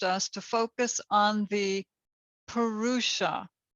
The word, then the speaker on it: purusha: to focus on the purusha i'll spell that for you it's p-u-r-u-s-h-a it's a sanskrit word